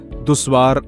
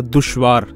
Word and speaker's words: दुश्वार: और प्रोनाउंसिएशंस की बहुत गलतियां हैं, दुश्वार नहीं होता, दुश्वार।